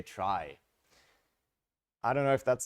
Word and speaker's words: trie: as keys so the the name is traced to come from retrieval that's why it's spelled in this awkward way but then tree is kind of taken already and would confuse the heck out of people so instead we say try I don't know if